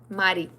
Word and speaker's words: Mari: It's Mari Mari. Mari, that's how you you pronounce my name.